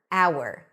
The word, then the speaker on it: hour: Because the H is not pronounced and we're actually starting with a vowel. The hour. Hour.